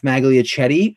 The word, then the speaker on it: Magliochetti: We have a special guest today, buddy of mine, Geoff Magliochetti from the Elite Sports New York, who is a New York Jets beat reporter.